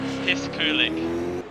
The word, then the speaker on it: Piskulik: Thomas Paulus just told me that to say it as Mike or Piskulik. Piskulik is how you say it.